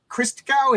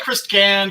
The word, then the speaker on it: Christgau: I'm here with christow is that how you say your name yes Chris I get Chris Gan Chris G Chris ganu it's it's all good my my last name